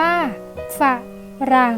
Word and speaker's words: ฝรั่ง: อ่าน ว่า ผนึก ฝรั่ง อ่าน ว่า ฝาก หรั่ง และ สงบ อ่าน